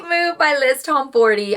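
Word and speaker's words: Tomforde: For the month of September, my favorite read was The Right Move by Liz Tomforty. I'm so embarrassed I've been saying Liz Tomford.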